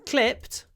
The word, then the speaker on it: clipped: in the word clip so in clipped which is clip clip the I is clipped we call it clipping this is vowel clipping clipped it's made shorter it's clipped clip the